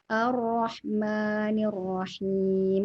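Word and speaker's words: الرحمن الرحيم: Oh, sama satu lagi ya, kalau huruf ro itu ketika dia tasydid maka akan mengikuti ro, membacanya tebal atau tipisnya mengikuti ro yang ditasydid. Contohnya seperti ini, Ar-Rahmanir-Rahim. Karena ro itu kan tebal.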